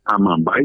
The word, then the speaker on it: Amambay: El acento siempre está al final, en vez de Amambay es Amambay.